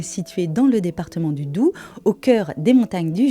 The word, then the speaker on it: Doubs: On ne dit donc pas Doubs, mais bien Doubs. Le Haut-Doubs est situé dans le département du Doubs. Le Haut-Doubs est situé dans le département du Doubs, au cœur des montagnes